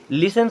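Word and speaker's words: listen: बोलते होंगे अफेन है लिसन शब्द एक होता है लिसन हमेशा आप उसको लिस्टन पढ़ते होंगे और टीचर बताते हैं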